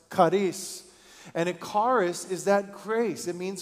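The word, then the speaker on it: χάρις: God in his grace that word is Kus or pronounced Karis and it carus is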